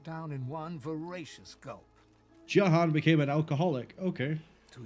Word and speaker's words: Jahan: I could have sworn in Original Sin 1 it was pronounced Jahan. Not Jahan. Because I kept pronouncing it as Jahan.